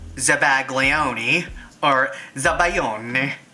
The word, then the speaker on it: zabaglione: or subway ole and it's spelled sa BA y OU n or Z ABA GLI o and E the Italian Way which is zabaglione or is that by